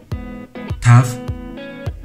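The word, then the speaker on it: תו: 타브, 타브, 타브, 타브. 이 글자는 아슈케나즘 유대인들이 성경을 읽는 단어 중간이나 끝 발음에서 S로 발음되기도 하는데 현대 히브리어에선 테트와 마찬가지로 항상 T 음가를 가집니다.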